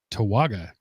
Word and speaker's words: Towaga: How would you pronounce this again, Mark? Towaga.